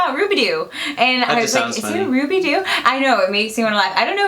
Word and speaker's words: Rubidoux: this place called Mount Rubidoux pronunciation verified I have Ruby do and Ruby do I